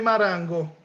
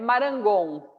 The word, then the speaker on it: Marangon: Quem é Marango? Eu pronunciei bem, Marango ou Marangon? É Marangon.